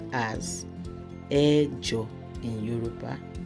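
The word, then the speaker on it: ẹ̀jọ: Eight is pronounced as Ejo in Yoruba. Ejo. Or you say Mejo when you're using it in a sentence. Mejo. So number eight is Ejo or Mejo.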